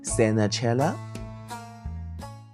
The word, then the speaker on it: senetjer: and the pronunciation is senetjer.